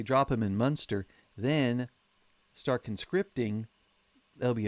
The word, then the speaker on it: Munster: Or sorry, that's the German pronunciation. Munster is the Irish one. Münster is the place in Germany.